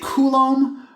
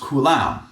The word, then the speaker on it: Coulomb: And I usually say Coulomb, but it is also sometimes pronounced Coulomb.